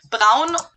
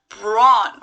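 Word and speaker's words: Braun: it turned out that americans and british people too actually pronounce this brand brawn or bro and brown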